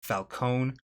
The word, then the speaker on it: Falcone: the list with Carmine Falcone from Batman Begins. I'm going to be using that pronunciation because that is the pronunciation that is used in the film. While the newer Batman continuity uses Falconee.